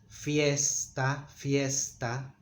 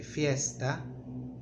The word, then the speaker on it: fiesta: The letter S has some peculiarities. In Mexico, for example, they make it very strong, they tend to make it longer. For example, fiesta, vamos a una fiesta. In other countries they say fiesta, a bit short, fiesta. In Mexico they tend to drag it.